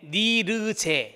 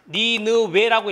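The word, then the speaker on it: Nirje: 스웨덴의 니르제. 시작. 니르제. 니르제라고도 있고요. 니느웨라고 읽어요. 이 W라는 것을 지읒으로 발음하기도 하고 우로 발음하기도 하잖아요.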